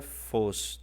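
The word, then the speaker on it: φῶς: Que aqui é a palavra fos, tá ok? Palavra fos, você vê um acento circunflexo em cima do ômega, que faz com que essa sílaba seja realmente longa.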